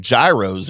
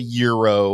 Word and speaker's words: gyro: food I don't eat I will eat some Gyros every now and then I like Greek food